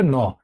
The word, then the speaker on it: gnaw: GNAW হবে, বাট এখানে জি এর উচ্চারণটা সাইলেন্ট থাকবে। কেমন? উচ্চারণটা হবে ন।